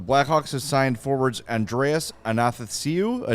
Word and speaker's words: Athanasiou: Athanasiou. It's like Athanasiou. Nathan without the N. If I think about it, I can say it. And Athanasiou. then ASIOU.